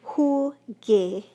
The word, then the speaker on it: jugué: So we add that U in there, it becomes jugué. Not jugué, because that's not a sound that we use in Espanol, but jugué.